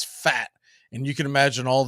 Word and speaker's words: Pfaadt: Now it's spelled Pfaadt, but it's Fat.